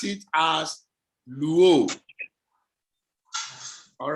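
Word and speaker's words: λύω: You pronounce it as luo. All right? Yes, sir. Lambda is pronounced L, upsilon is pronounced U, omega is pronounced O, and together it becomes luo.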